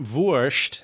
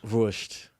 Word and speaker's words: Wurst: And it wasn't Wurst. It's Wurst. Ma Wurst. Wurst? You don't Wurst. But not Wurst. Right. I mean, you can still say it like that, but the Austrians would say Wurst. Wurst.